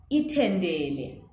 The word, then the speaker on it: itendele: So are you hearing the difference between ta and ta? Itamatis versus isitende.